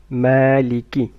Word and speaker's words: مالك: Make sure that you don't stretch the kasra of kaf. مالك، مالك يوم الدين.